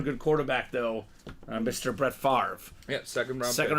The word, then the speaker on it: Brett Favre: quarterback though Mr Brett Favre yeah second round pick second round pick they they pronounced his name favor in the draft BR fav seen that